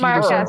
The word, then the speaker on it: marquess: Is it a marquis or marquise? How do you say? They say marquis. Is it because they're British? Are we saying marquis like the marquis? Marquess. Right? Marquess? She's the marquess. Oh, okay. Yeah, Marquess. Yes.